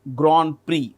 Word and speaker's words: Grand Prix: We pronounce it as GR. It's French. Grand Prix.